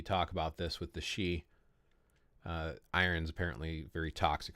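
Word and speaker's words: Sidhe: and my video constantly s d h e She it's pronounced she ah welcome rookie crystals are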